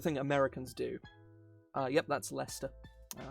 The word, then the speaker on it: Leicester: Yep, that's Leicester. Not Leicester. It's just Leicester.